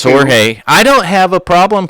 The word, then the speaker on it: Jorge: George. You know how many corrections it took for me to pronounce that Jorge? Well, it's Spanish. Right. You gotta say it like ha.